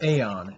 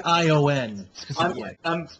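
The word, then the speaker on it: Aion: makes me think of Aon and I immediately went no dumb comment why are we bringing final fanty T into this um a i o n it's actually pronounced ion than thank you I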